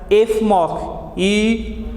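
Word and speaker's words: Fmoc: So this position is a 9, and that's why it is known as 9-fluoronyl methyloxycarbonyl, that is pronounced as F-MOC, F-MOC.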